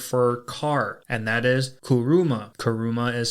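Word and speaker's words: 車: the Japanese word for car and that is kuruma kuruma is spelled k-u-r-u-m-a and kuruma is very relevant to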